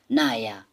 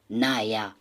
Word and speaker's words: naja: Or if the person is well, okay, the person can say, naja, es geht. Remember, J, we pronounce it as Y. So that's why I'm saying, naja, es geht.